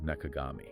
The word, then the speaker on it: 中上: But the Wikipedia entry reveals that around the time he got married in 1970, he actually changed the reading of his family name from Ebayo, Nakawe, to Nakagami.